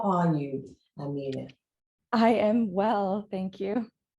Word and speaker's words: Amanie: Is it Amanie? It's Amanie. Amanie. Amanie. Okay. Yeah. All right. That's a lot easier to remember. Amanie. Yeah. Amanie. That's correct way to say it.